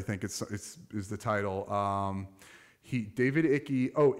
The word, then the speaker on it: Icke: So our good buddy David Icke, I believe that's how it's pronounced.